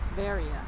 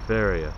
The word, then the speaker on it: Veria: Or the way the Greeks say it is Veria. Veria, sorry.